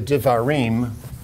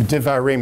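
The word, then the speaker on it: דברים: the book of uh devarim which is the opening sentence of the book says that these are the divarim the divarim it's pronounced like a v even though it's a b those of you know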